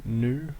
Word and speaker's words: GNU: hear people referring to new which is the same thing however they're not pronouncing the g at the start there are many different